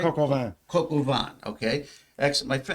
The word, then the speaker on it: coq au vin: The coq de vin was excellent. Is that I pronounced that right? Coq au vin.